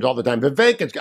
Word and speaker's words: Vivek: all the time the vacancy I know it rhymes with cake but Selena had already